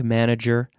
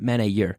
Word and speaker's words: manager: last month yes I spoke to the bank manager last month listen to my pronunciation yes I spoke to the bank manager last month spoke I spoke I spoke to the bank manager manager not men a year but manager juror manager last month month month